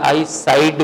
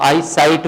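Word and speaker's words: eyesight: साइड कमजोर होती है अक्सर लोग कहते हैं कि मेरी आई साइड वीक है वो होगा आंख की तरफ वीक है आंख का एक हिस्सा साइड जो है ना वीक साइड नहीं वीक होती साइड आपकी आंख का जो नजारा होता है ना वो कमजोर पड़ जाता है तो आई साइट बोला करें ठीक है नॉट आई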